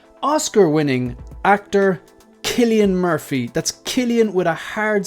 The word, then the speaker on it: Cillian: That's Cillian with a hard C. So the C, it's pronounced like a K as if you're going to kill somebody, okay?